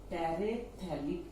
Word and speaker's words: terephthalic: Ethylene glycol, it is dacron, write M here, plus another monomer is terephthalic acid. Both the acidic groups are at para position. Large number of terephthalic acid molecules. Terephthalic acid. Here pH is silent.